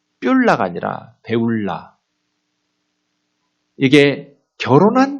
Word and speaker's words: 뿔라: 뷸라는 발음이 엉터리예요. 원래 결혼하다라는 결혼할 것이며 이게 바알이에요. 바알이라는 것은 우상의 이름이기도 하죠. 주인이 되다, 주인, 남편 그런 뜻도 있거든요. 바알에. 그런데 이 바알의 명사형으로 만들은 그러니까 바알을 배울라 이거거든요.